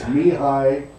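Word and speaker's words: Mihály: But it's Mihaly, so Mihaly, Chick sent Mihaly.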